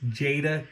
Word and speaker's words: Jada: my review on Ryu I said Jade toys I do apologize jada toys I'm so sorry for mispronouncing the name anyway I just want